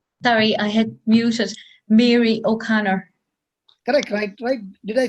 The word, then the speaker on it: Mary O'Connor: you say your name sorry i had music mary o'connor could i cry did i say that yes